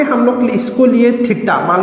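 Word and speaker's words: theta: उसका रीडिंग होता है टी एच ई टी A pronunciation होगा थीटा।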